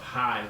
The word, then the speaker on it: Hye: Here's So- a small quick plug for the town of Hye, Texas, and you spell that Hye.